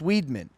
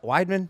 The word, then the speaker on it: Weidman: same thing happened to chris weedman it's like weidman i'm sorry dude i'm